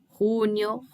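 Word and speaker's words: junio: aceita Abrir Maio Union Lembrando que o J tem som de R né que vem lá na garganta runyon julho agosto setembro outubro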